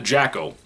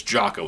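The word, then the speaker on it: Jaco: The patrols that are tied to Jacko. Jocko? I think it's Jocko is how you say his name.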